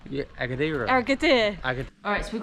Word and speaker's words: Agadir: Where our accommodation was in the last place in Agadir, there was like no supermarkets. Did I say it wrong? Yeah, Agadir.